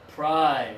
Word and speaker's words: prize: And I need vibration for this one. Prize. You really need to try hard because for many, in Spanish, these 2 letters make the same sound.